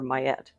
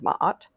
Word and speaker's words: Ma'at: my mind are the scales of justice, or Mayet. You might also see her name spelled out as Ma'at, M-A apostrophe A-T. That's going to be the more frequent pronunciation that I've seen is Ma'at.